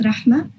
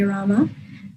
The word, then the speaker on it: Rama: It is pronounced Rahma. If you are unable to pronounce it, you may say Rama.